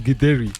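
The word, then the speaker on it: githeri: Is that Gideri or what do you pronounce it? Yes, Gideri.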